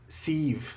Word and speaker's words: Sif: I don't know, because they say Bifrost, and they say Thor's wife is Siv, not Sif. They pronounce it like a V, so that was new to me as well.